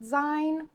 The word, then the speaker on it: zine: little, the People's Art Zine. I'm gonna say zine, like magazine.